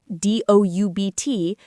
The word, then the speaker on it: doubt: We have so many silent letters. Right. If you see the word doubt, D-O-U-B-T, you might want to say the B.